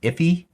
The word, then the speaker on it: IIFE: It's also just known as an IIFE. Sometimes I think it's pronounced iffy.